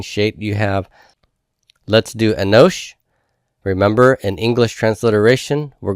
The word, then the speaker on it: Enosh: I'm not going to mark an accent mark here because the accent is going to be on the final syllable.